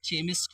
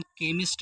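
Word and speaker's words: chemo: एच आया है तो यहां पे चीमो नहीं पढ़ेंगे बच्चों इसका उच्चारण का से करेंगे जैसे केमो हो गया क्यों क्योंकि ये कुछ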